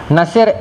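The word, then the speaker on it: Natsir: Nasir, N-A-T-S-I-R, ejaan dia, Nasir.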